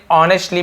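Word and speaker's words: honestly: चाहूंगा यू यानी आपको तो ऑनेस्टली एस साइलेंट होता है इसको लिखते हैं लेकिन पढ़ते नेस्ट पढ़ ऑनेस्टली पढ़ते हैं तो मैं ईमानदारी से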